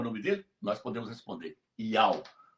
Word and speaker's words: IAU: Não é Yahuá, é Ial o nome do criador.